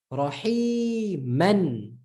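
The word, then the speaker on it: رحيما: It's still silent. So this is still shaykhon. Okay? And this is still rahiman. Rahiman. Can you see? Not mana or anything.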